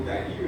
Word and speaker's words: Dário: Homens que não tinha 100% de confiança em Deus, que era o rei Dário ou Dario, né, como alguns pronunciam, que era o rei, eh, que ele não dormiu aquela noite porque Daniel foi lançado na cova dos viões.